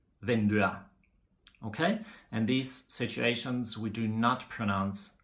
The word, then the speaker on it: vinduet: a noun, like for example in huset, bordet, vinduet. Okay, in these situations we do not pronounce the T.